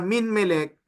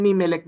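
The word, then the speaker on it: ממלך: Kaya dito, imbis na minmelek, dahil nga napaka-weak ng consonant na noon, naging mimelek na lang siya, no? Hindi mo na naririnig yung noon at hindi lang naririnig, hindi na talaga pinopronounce, no? Mimelek.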